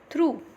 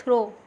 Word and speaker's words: through: Through, through, through, not throw. If you will pronounce it throw, then it will be throw, throw means फेंकना, but here the word is through, through.